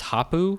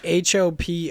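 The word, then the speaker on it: Hopoo: them but I guess it's habu games is how you say yeah Hopa oh yeah Hoppa games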